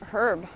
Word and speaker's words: herb: Yeah, in French it's pronounced the same way.